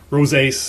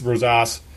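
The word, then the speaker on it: Gersson Rosas: operations garrison Rosa Rosa I believe it's pronounced Rose ace Rose ass he another well thought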